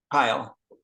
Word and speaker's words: Kyle: Is Kyle or Car? Kyle. Kyle, okay.